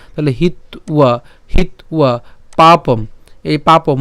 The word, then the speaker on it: হিত্বা: তাহলে স্বধর্মং কীর্তিঞ্চ হিত্বা, হিত্বা কেন, এখানে হিত আমরা যদি উচ্চারণ করি এখানে কি আছে আবার অন্তস্থ আছে, তাহলে তার উচ্চারণ কেমন হবে, উও হবে, তাই না। তাহলে হিত্বা, হিত্বা পাপম, এই পাপম ম পর্যন্ত উচ্চারণ করছি, পাপম, পাপম।